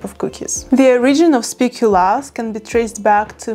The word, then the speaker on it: speculaas: Yes, not speculoos, because it's Belgium. In the Netherlands, we pronounce it as speculaas.